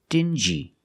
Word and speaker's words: dingy: they're pronounced differently example dingi and stingy these two words have the regular n Sound n plus the J like juice together stin G together stingy or d g together dingy this wall is very